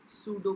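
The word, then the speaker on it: pseudo: हैं एल्गोरिदम या फिर सूडो कोड तो आप इसे एल्गोरिदम या सूडो कोड कह सकते हो सूडो कोड का पी साइलेंट होता है सो दिस इज जस्ट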